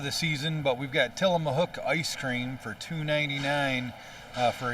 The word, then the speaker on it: Tillamook: I didn't even pronounce. I said Tillamook a while ago, so it's Tillamook. So didn't even say it right.